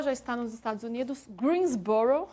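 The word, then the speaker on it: Greensboro: Greensborrow, assim que se pronuncia. Greensbor. Greensborrow.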